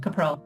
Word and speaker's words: Kapral: you know what it's it's a married name so I don't really care how you pronounce it it is a foreign name it's from from Czech Republic but it's your you did it well capral okay so yes we're